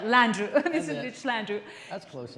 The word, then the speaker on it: Landrieu: conversation uh with uh mr mitch and they pronounce this this right landrieu this is slander that's close enough just don't